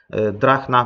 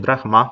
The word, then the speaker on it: drachma: Jeszcze tutaj takim telegraficznym skrótem mamy też drugą monetę, którą warto wspomnieć, jest to drachna bądź drachma, zależnie od tego, jak to jest wymawiane, pochodząca z Aten.